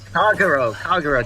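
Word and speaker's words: Kagerou: Kagero, just say it like that, Kagero.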